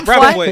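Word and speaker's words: Brentford: How do you say it? Braithwaite. Brantford, you Brantford, throw yeah. me now. Yeah. Brantford? Yeah. Brantford. It's Brantford. Yeah, Right.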